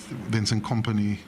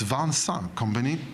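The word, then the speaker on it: Vincent Kompany: Um, and you know, I understand that Vincent company or Vans company, I've just asked him how to pronounce his name. So, it's Vans company.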